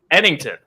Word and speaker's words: Ennington: Ennington.